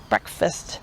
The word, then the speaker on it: breakfast: And why do we say fist, breakfast, when it looks like the word fast?